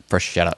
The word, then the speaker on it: Freschetta: Freschetta.